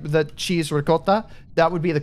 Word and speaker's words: ricotta: it's like instead of ricotta like the cheese ricotta that would be the correct pronunciation um East Coast Italian United States or